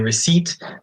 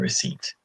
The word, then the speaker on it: receipt: Now, don't change your pronunciation once you look at the spelling because there is a silent P.